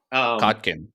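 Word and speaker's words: Kotkin: Stalin biographies by right Stephen cotkin I think is how you say his name yes uh yeah cotkin yes and uh you know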